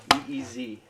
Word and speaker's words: Ys: Spell it with me. E E S. And now say it. E E Z. Ys. The biggest Ys fan of all time told me it's Ys.